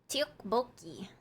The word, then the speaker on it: tteokbokki: Tteokbokki.